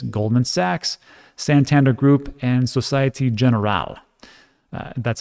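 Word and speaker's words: Société Générale: So on top of that, their issuance will be managed by giants such as Goldman Sachs, Santander Group, and Societe Generale.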